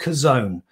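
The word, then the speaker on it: Chazown: is a thing called kazone this is a book written by craig rochelle c-h-a-z-o-w-n it was pronounced that's how it's spelt it's it's uh an interesting title it's actually a hebrew word and when you pronounce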